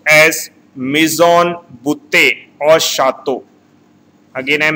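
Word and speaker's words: mis en bouteille: Here double L word is silent.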